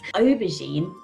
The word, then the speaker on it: aubergine: So that's why we pronounce it with a gine at the end using the French pronunciation rules, whereas it could be gine or gine if we were using British pronunciation rules.